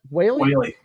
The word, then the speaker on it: Whaley: How do you pronounce that? Whaley.